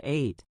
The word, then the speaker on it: ate: When we talk about a meal we enjoyed yesterday, eat turns into ate. It is spelled a t e and it sounds exactly like the number eight.